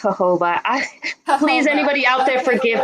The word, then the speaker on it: jojoba: I I'm very white I said Joba for a long time but I think is hoba please anybody out there